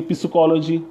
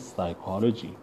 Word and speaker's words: psychology: you would say P-psychology, P-psychology, that is wrong pronunciation, right? So that is just understand the importance of the pronunciation. Understand, otherwise you would speak it psychology wrong. It is psychology. It means P is silent.